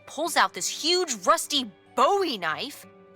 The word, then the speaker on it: Bowie: no warning, he pulls out this huge rusty Bowie knife. It's actually pronounced Bowie. What? Oh. No, it's like the last name, like David Bowie. Different last name. Bowie.